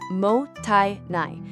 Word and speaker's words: mottainai: Now, you might be wondering how to even pronounce this word. It's Mottainai.